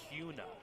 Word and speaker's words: Kuna: We would like to acknowledge that Kuna Idaho is officially phonetically pronounced Kuna.